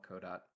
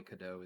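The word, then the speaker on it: Qodot: to a Godot add-on called kodot or Cado however you want to pronounce it I can't a lot of people call it codot um it's probably Cado is probably the best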